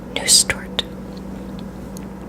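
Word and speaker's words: Nusstorte: Nustort.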